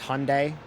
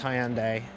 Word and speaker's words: Hyundai: and the Audi RS3 I thought it was pronounced Hyundai it is pronounced Hyandai hyai hyand I I pronounce it the old